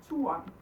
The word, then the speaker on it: turen: So it just becomes turen. Turen. So usually we take one syllable and we just stretch it and then across the rest.